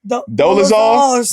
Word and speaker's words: Dolezal: Dolezal.